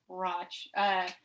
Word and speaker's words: Rochdale: So Roch rhymes with ought. Roch.